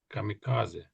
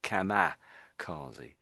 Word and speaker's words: kamikaze: I know there's an I there, but I think a lot of people would actually say kamazi, but I think technically it's really kamicazi. Kamikazi kamicazi kamicazi in our language with D.